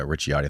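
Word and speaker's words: Ricciotti: Richiotti is how you say it.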